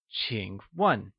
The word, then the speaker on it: 请: 请 is pronounced with a falling, rising tone, and starts with a ch sound, whereas 问 is pronounced in the falling tone. Let's hear you say 请问.